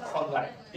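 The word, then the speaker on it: fungi: Kingdom फंगाई। फंगी नहीं पढ़ते इसको, फंगाई पढ़ो।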